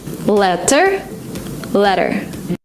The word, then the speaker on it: letter: In American English, if you have a letter T in the middle of a word, sometimes you pronounce it as D. Letter. ගොඩක් වෙලාවට ට sound එක වෙනුවට ඩ sound එක එනවා. Letter comes as letter. Like water into water.